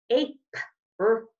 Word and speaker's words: April: It sounds like this. April. That I is being so tricky. There's our schwa sound. Now, sometimes when I see IL at the end of the word, I can pronounce it like ill, but then as a good reader, I recognize that that doesn't sound right. So instead, I remember, that's a schwa sound. This I must be quiet.